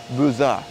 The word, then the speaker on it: Beaux-Arts: It's actually pronounced a Beaux-A.